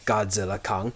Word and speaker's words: Godzilla x Kong: Apparently you're not supposed to say the X there.